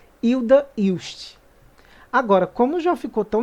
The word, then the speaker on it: Hilda Hilst: pesquisa obviamente e descobri que na verdade a pronúncia correta de acordo com a própria autora é Hilda hilst agora como já ficou tão naturalizado o modo